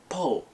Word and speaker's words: Paul: demonstrated in the movie British people the way they say it po they say it like I love the way they say it because they say it as if there's no L on the end of it it's like so my